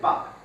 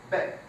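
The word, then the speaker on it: باب: Por ejemplo, puerta se dice bab. En árabe andalusí, beb.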